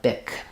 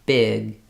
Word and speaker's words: big: voicing and more about when I say big, big, I'm not really letting that G out very much. I'm holding my vowel longer, big.